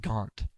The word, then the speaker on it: Garnt: So both of them pronounce his name the same way, and it sounds more like Gaunt. So when I say Oh. Garnt, it sounds so fucking